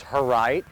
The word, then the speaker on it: Herright: My first name is John, my last name is Herright, and it's pronounced Herright, like her right arm.